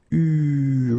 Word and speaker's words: eu: Okay, you write it like that, but you pronounce it u.